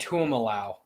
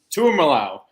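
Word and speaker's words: Tuimoloau: Pretty sure it's JT Tuimalau. Tuimalau. That's how you say it.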